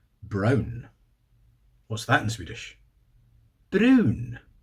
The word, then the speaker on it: brun: Brun. B R U N. So we spell that in Scottish.